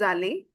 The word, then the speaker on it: allez: Again, vous allez, because e z gives you the a sound.